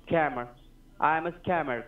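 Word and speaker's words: Kammer: camera k-a-m-m-e-r k-e-m-m-e-r right it is pronounced camera did you get my name right camera i am a scammer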